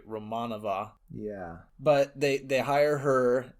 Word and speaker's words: Romanova: Yeah, and so they hire a pretty girl who Tatiana Romanova, or sorry, as they pronounce it in the movie, Romanova.